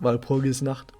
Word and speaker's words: Walpurgisnacht: By the way, once again, this is how pronounced it, Walpurgisnacht.